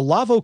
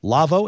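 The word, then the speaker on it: Lawo: got to mute something external uh it's the lavo crystal clear and if this appeals to you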